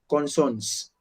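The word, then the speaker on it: consonne: I will never say consonants as we have done in English. No, I have to simply say consonant. That S is silent.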